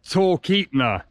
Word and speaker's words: Talkeetna: Okay, so we were right on the pronunciation. It's Talkeetna.